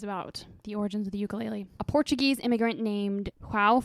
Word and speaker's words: ukulele: across the islands or is pronounced by Hawaiians as ukulele yeah I don't know